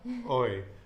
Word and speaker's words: hoy: Hoy. So the word for today is hoy. Okay. H-O-Y with the H being silent, right? So it's just hoy.